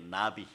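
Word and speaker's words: נביא: 히브리어 단어로 이런 거 알아두세요. 나비예요. 나비. 나비. 나라다닌 나비하고 발음이 똑같습니다.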